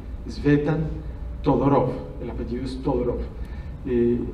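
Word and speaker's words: Tzvetan: Se escribe como se pronuncia, Svetan con Z inicialmente, Svetan Todorov, el apellido es Todorov.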